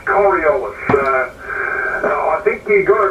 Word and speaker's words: Coriolis: uh as per usual uh one thing on pronunciation coriolis is the the word that you're looking for so it's coriolis uh i think you got it right towards